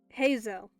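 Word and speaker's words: Heizou: take a seat tell me the whole story heo that's how you say it I now have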